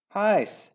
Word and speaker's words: Hyce: Hyce, he cried, for it was his habit always to address his wife thus, to rhyme with mice.